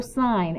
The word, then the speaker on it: sine: okay first of all do not pronounce this sin because it's just short for sign and we usually don't